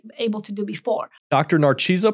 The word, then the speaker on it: Narcisa: P, so that's perfectly acceptable, but you would pronounce it, Narcisa. Okay, Narcisa, that's how it is, Narcisa.